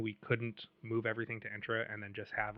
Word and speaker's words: Entra: directory for were leveraging entra ID or intra ID I got to get the real pronunciation of that is it entra or intra we I would say it's entra um but let's say